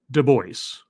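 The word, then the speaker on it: Du Bois: the last broadcast uh so it is actually pronounced dubois i was wrong in my efforts in my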